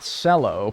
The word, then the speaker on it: cello: Not cello. Pronounce it like jello.